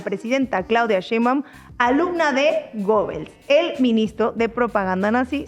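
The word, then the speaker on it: Goebbels: Bueno, Marcos, sí se pronuncia Gebels.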